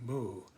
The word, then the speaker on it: Mu: Wang Bi saw the 10,000 things coming forth from Wu, from what we call emptiness, the boundless, or in the Japanese pronunciation, Mu, and in a continuous